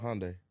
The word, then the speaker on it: Hyundai: Hyundai.